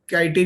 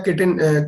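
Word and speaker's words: chitin: ये काइटिन या किटिन, चिटिन भी इसको बोलते हैं, अलग अलग प्रोनाउंसिएशंस हैं.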